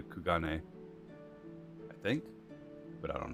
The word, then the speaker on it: Kugane: departure you should too always pronounce the q gain um i assume it's supposed to be japanese which would be something a lot closer to kugane i think but i